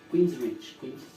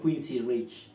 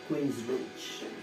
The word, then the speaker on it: Queensrÿche: Queensrÿche. Bueno, se escribe Queen y después Rich. Okay. ¿Sí? Y creo que yo una S en medio. Yo la pronunciaba como Quincy Rich.